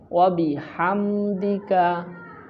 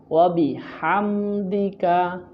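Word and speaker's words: وبحمدك: বলুন আমার সাথে সুবহানা কাল্লাহুম্মা বলুন কাল্লাহুম্মা একসাথে বলি এখন সুবহানাক আল্লাহুম্মা তারপর ওয়াবিহামদিকা ওয়াবিহাম এখানে হা উচ্চারণ করার চেষ্টা করবেন ওয়াবিহামদিকা তারপর ওয়াতাার ওতাবা এখানে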